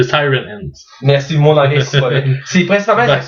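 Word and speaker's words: Ciarán Hinds: Zacharie Kinto et là je j'essaie de bien le prononcer Siran Ins c'est Siren In merci mon anglais C'est principalement les acteurs principa sont pas super connus.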